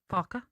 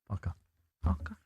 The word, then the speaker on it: Farke: Farke. Farke.